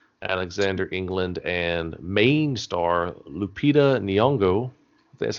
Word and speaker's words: Lupita Nyong'o: starring josh gad alexander england and main star lupita nyong'o that's how you say it it's miss caroline